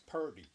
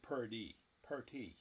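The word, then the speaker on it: Purdy: it up here yeah but it's pery yeah not not pie per I've heard I've heard plenty of people pronounce it pie probably I've heard you pronounce it pry probably so what do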